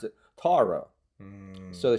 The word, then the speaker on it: Tarot: But in the United States, we tend to for some reason, favor the French pronunciation, which is tarot, but because we're more relaxed in our vowels, often we go tarot.